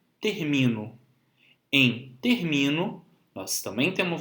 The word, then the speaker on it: termino: As palavras paroxítonas são aquelas que possuem como sílaba tônica a penúltima, como em termino.